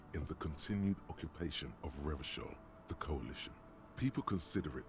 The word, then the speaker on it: Revachol: out any time, like Revachol did in its prime. I refuse to pronounce it the way that the game does. I'm ground into the hard CH.